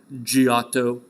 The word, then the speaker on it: Giotto: used to them right an eye after a hard consonant makes it soft Giotto right Gio do Gio